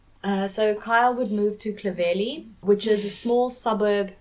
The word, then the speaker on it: Clovelly: She used to live in this area and she pronounced it as Clovelly.